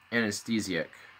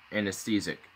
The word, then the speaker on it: anesthetic: Probably, did I just really pronounce that wrong? Anesthesic. Anesthetic.